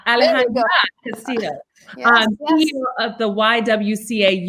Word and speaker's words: Alejandra Castillo: And Alejandro Castillo. Did I pronounce it correctly? Alejandra. Right? Alejandra Castillo.